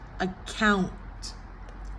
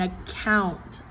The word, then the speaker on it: account: And then account, account. Schwa, relax. And then the K is that glottal stop. Round up to the N, and then the stop T. Catch the T.